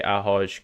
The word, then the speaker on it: ahoj: It's like hi or hello, but in Slovakia we say ahoj because you don't pronounce it well, but I don't mind if you don't speak it like it's I.